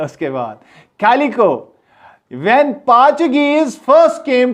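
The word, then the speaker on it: Portuguese: उन्होंने पुर्तगाल या पोर्चुगल भी इसको पढ़ते हैं, और ऊपर इसको पोर्चुगीज पढ़ते हैं। पोर्टुगीज नहीं पढ़ना है, इसकी प्रोनाउंसिएशन पोर्चुगीज है।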